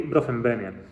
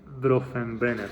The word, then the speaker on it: Bronfenbrenner: Esta es un poco la idea de la teoría ecológica de Uri Bronfenbrenner. Creo que lo he pronunciado bien. Uri Bronfenbrenner, sí.